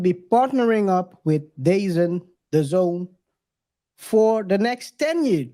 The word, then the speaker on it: DAZN: end I don't know people pronounce it very differently before I knew how it was that that was the Zone because it's written the D e a z n I thought it was dazen I don't know I'm